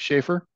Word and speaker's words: Sheafor: Thanks for pronouncing my name correctly, which is unusual.